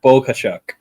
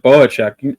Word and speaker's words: Bohachuk: me out s sge there's no G in there it's s bohachuk yeah Bo yeah uh Mr bohachuk I knew this was